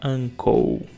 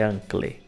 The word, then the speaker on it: uncle: tem um C antes aí vai virar uncle é como se fosse c o u no final uncle é igual a bicycle motocycle tudo é ou mas tem que acompanhar a letra que vem antes aí no caso do c anc não vai ser ancle Ok arrancou agora and